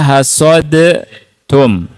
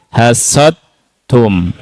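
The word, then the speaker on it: حصدتم: Lihat tidak dibaca hasod tum tapi dibaca huruf apa? Ta. Dibaca huruf ta. Dalnya masuk ke ta. Hasad tum hasad tum murni huruf ta masuk dalnya enggak kelihatan, enggak kedengaran dan tidak ada langsung dibaca huruf apa? Ta bertasydid.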